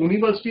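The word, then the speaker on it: university: अब अगला देखें यूनिवर्सिटी, यूनिवर्सिटी भी यू से शुरू हो रहा है लेकिन इसका उच्चारण य से, इसको यूनिवर्सिटी नहीं बोलते हैं, यूनिवर्सिटी बोलते हैं, तो इसलिए उच्चारण कंसोनेंट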